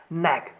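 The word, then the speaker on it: knack: नैक नैक को आसानी से कैसे याद करेंगे कि नैक को दो पार्ट में डिवाइड किया कि ये साइलेंट होता है।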